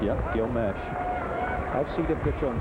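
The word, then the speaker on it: Meche: How it's pronounced? Yep, Gil Mesh.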